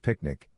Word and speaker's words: PQNK: The solution follows the proven PQNK pronounced picnic methodology.